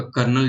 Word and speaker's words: colonel: यानी कि जो आपका कर्नल जिसे बोलते हैं, बोलते तो कर्नल लेकिन स्पेलिंग होती है कोलोनल।